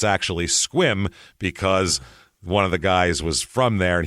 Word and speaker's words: Sequim: to we're going to squim Washington s squim now it's spelled s e q u i m so it looks like sake or squim but if you ever